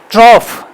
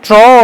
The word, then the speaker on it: trough: The pronunciation is ट्रॉफ rather than trough or something.